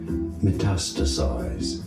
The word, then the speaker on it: metastasize: Metastasize. Metastasize. Matas. Stress on the second syllable.